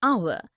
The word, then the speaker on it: hour: air an honest an hour because the words air honest an hour begin with a vowel sound as the initial consonant H is not pronounced article one we use